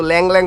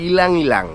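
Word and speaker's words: ylang-ylang: আমি তো পারতাছিলাম না আমি তো ল্যাং ল্যাং ফাস্টে পড়তাছিলাম পরে দেখলাম না এটা ল্যাং ল্যাং না এটা ইলাং ইলাং তো শুরুতে সিট্রাসি এরপরে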